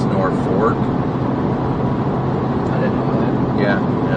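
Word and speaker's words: Norfolk: me how it's spelled nor folk but it's Norfork I didn't know yeah it's pronounced norfor but it's spelled norog why is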